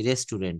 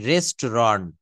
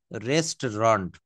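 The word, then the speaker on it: restaurant: চলুন আমরা একটু রেস্টুরেন্টে খাওয়া দাওয়া করে আসি রেস্টুরেন্ট কিন্তু নো ইটস the right pronunciation রেস্টরন্ড রেস্টরন্ড আমরা যেমন দেখবেন সাতটা বারের নাম এখানে আমরা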